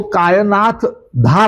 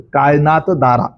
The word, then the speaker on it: कायनात दारा: सगळ्यात मोठी त्रुटी म्हणजे त्यांच्या नावाचा उल्लेख जो आहे तो कायनाथ धार असा केला जातो ते तसं नाव नाहीय काय असा आहे काय दारा असं त्यांच नाव आहे कायनात दारा स्पेलिंग पण मी सांगू